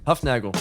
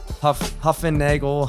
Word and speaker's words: Hufnagel: Hufnagel. You got Hufnagel. I remembered. That works. I get like Nagel. You get Hufnagel's the German pronunciation. You get like Huffennagel, Hufnagli.